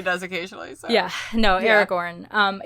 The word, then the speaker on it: Aragorn: just pronounce it wrong now oh did i pronounce it wrong yes you said erika said aragon but also everybody does occasionally so yeah no aragorn um it's written i was really uh attempt